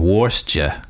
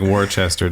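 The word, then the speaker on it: Worcester: at Clark University in in warer okay it looks like Worchester to me but that's how they say it down there yeah I don't even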